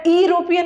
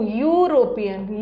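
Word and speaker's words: European: ई से स्टार्ट है लेकिन इसको अरोपियन नहीं पढ़ेंगे या इरोपियन नहीं पढ़ते हैं। ये इरोपियन नहीं है। ये है यू यू यू यूरोपियन यू यूरोपियन य आ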